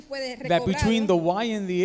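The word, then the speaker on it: יה: Y y la H, is pronounced ya. Se pronuncia ya. Ya. Okay, now in Spanish, I know it's funny because ya means now. En español ya quiere decir ahora, pero no es lo mismo. But no, it's ya with an H, okay?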